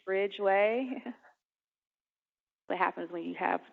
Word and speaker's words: Ridgeway: not my fault and it'll look like Bridgeway but it's Ridgeway what happens when you